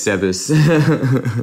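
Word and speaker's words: Zebes: or Zeus I don't know how you yeah Zeus is how you pronounce it Kevin Kevin earlier was like it's like zebs orely I'm scking it's like no Kevin it's Zeus well you're gonna have to you're going to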